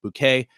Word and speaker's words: Bucket: by the name of Hyacinth bouquet uh even though it's spelled bucket and that's just one